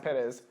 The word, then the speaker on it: Pettis: know it's crazy huh my last name is actually pronounced Pettis so if you look